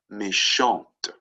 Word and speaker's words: méchante: If it's just a T there, it's that silent T again. Méchant, with the E at the end, it's méchante. Right? You sort of pronounce that T.